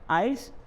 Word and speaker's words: IELTS: आप इसे IELTS भी पढ़ सकते हैं, लेकिन अगर हम इसे प्रोनाउंस करते हैं तो ये क्या बन जाता है, एक्रोनिम बन जाता है, and that's called आइल्स, international English language testing system.